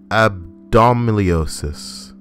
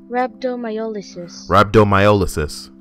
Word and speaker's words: rhabdomyolysis: Abdominiosis. Google, help me the fuck out here. It's been a while. Just gonna throw pronunciation. All right, here we go. Abdominiosis. Abdominiosis. Why can't I hear this? Rhabdomyolysis.